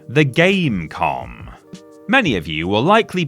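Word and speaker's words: Game.com: And yes, you don't pronounce the dot, it really is just Gamecom.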